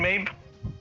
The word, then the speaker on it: Medb: M-E-D-B? Queen Mabe? Oh, Queen Mabe. Okay. Queen Mabe of Connacht. C-O-N-N-A-C-H-T. Connacht, I not sure. Okay. We'll just say Mabe of Connacht in the epic.